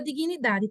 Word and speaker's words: dignidade: consoantezinha que é muda, que é o G. Se escreve assim, dignidade. D-I-G, nidade. Dignidade. Parece que tem um izinho aqui, mas não tem, só tem na pronúncia.